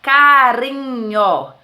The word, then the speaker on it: carinho: é a mesma forma Olha só carinho carinho é só um R Se eu colocar dois R vai ficar carrinho então entendendo carinho são